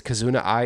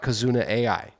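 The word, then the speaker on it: Kizuna AI: Okay, it is Kazuna I. It is not as it is not Kazuna AI. It is pronounced Kazuna.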